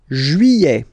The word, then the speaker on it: juillet: Juillet. Okay, you get this double L here. Y-y-y-y-y. Juillet. Juillet. Don't pronounce this final T, E-T here at the end.